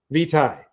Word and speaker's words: vitae: Vitae. Vitae is the proper pronunciation.